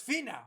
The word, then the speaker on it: Finau: Finau. No, it's Finau.